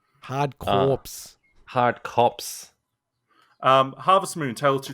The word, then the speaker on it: Corps: pronounce, Corpse you don't is in- pronounce the P. It's silent. Hard Corpse. Hard Cops.